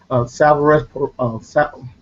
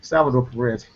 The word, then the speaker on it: Salvador Perez: Hosmer and Billy Butner, Salvarez. How do you say his name? Perez, the catcher. Yeah, Salvador. Excuse me, Salvador Perez.